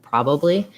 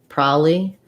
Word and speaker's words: probably: to stick with probably so then you have your pro bubbly first syllable stress probably um what i can think of is that people might say more like prolly um and then they just drop the bees out um but that doesn't